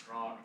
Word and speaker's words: Grok: It learns by groing or groking, however you pronounce that. How is it? Grock.